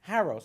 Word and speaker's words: Haros: Haros, okay.